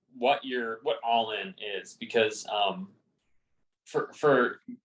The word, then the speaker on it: Ollin: spelled o-l-l-i-n uh like almost sounds like Olin but it's actually pronounced all in like a-l-l-i-n and I'll